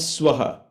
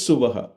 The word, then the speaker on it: Suvaha: So when you chant it in the mantra, it becomes Swaha, okay? But actually it is Suvaha. Om Bhur Bhuvaswaha, like that it comes.